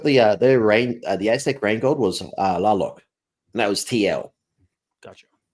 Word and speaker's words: Tlaloc: Because they've got the Aztec rain god was Laloc, and that was TL. Gotcha. And I always pronounced it as Tlaloc, and they said no, don't bother with the T.